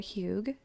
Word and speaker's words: Hygge: I'm thankful for Hygge. It's this thing I've gotten into recently. HYGGE, and I am 1000% sure and confident that I'm pronouncing that correctly. It's Danish, and it's this like